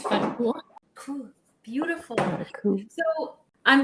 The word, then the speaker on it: Farkouh: So, my name is Farkouh, like I was saying before. So in Egyptian, you pronounce the H.